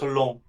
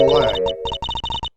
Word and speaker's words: Lang: Agent Long, can I ask you something? Still not how it's pronounced. It's Lang.